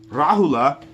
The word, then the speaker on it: Rahula: I was just talking about Siddhartha's son, Rahula. Big pronunciation on that A.